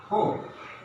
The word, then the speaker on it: hope: What is the difference between these two words? Hop. The pronunciation is hop. That means O. In this word, O is being pronounced hop. That means straight, not narrowly, but in this word, O is pronounced hope. That means our lips and our mouth is being narrow and should be slight narrow. Hope, hop, hope. The difference are hop means ঘুরিয়ে ঘুরিয়ে চলা, খোরানো।